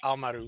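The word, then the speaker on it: Haohmaru: sorry I usually say I usually say it with the with the silent h Al Maru but uh uh I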